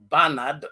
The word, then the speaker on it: Bernard: indiana it says alex the name uh bernard is pronounced barnard and beatrice is pronounced